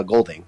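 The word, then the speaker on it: Edmund Goulding: it was directed by someone named edmund uh golding i think that's how you say his name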